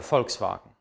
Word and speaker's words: Volkswagen: kommt das weh was wie wird im deutschen normalerweise wie ein f ausgesprochen das ist also kein weh sondern ist ein von der aussprache her der vogel die vase der vater der volkswagen habe ich gerade die